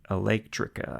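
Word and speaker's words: Eléctrica: Um Electrica, I guess it has an accent on the E.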